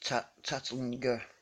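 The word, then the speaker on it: Tantlinger: This Keith Tattlinger, that's how I pronounce his name, not Tattlinger.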